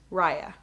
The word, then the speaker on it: Rhia: spell your name and my first name is spelled r h i a and it's pronounced raya how old are you